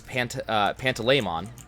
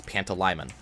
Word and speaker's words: Pantalaimon: So whenever I saw Mon as a suffix for a name or anything like that, that's what I thought. So I was pronouncing kind of weird. According to the audiobook, it's Pantalaimon, which, fine, I'm never gonna call him that.